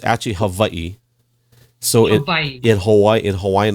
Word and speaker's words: Hawaii: yeah you said it right so it's actually Havi so in Hawaii in Hawaiian language we see our W's are V so you actually said it right the first Havi yeah Havi that's how we say it in